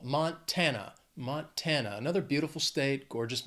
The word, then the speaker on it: Montana: Three syllables, stresses on that second syllable. Montana.